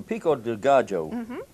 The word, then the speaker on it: pico de gallo: So this, the pico de gallo, is that how you say it?